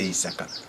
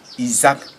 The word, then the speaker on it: Isaac: Ils ont écrit en phonétique et en français, ils lisent Isaac. Parce que en français, le S entre deux voyelles se prononce Z. Or, en phonétique, c'est S.